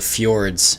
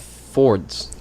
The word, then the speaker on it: fjord: Oh, That's Like- called Fords. well, it's pronounced fjord, I think. Is it? Yeah, yeah, Fjord? because Fjord. the Yeah. J in Scandinavian languages has a Y sound.